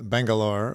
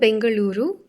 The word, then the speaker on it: Bengaluru: you that you are from Bangalore which is the sort of Western way of saying the city why don't you pronounce the proper way of saying it for us so it's called Bengaluru and U my mother